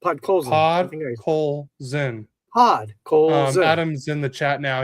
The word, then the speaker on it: Podkolzin: Then at the 8:19 mark, but how do you say that? Pakolson? He gets his 13th from it. What? Say that again. Podkolzin. Podkolzin.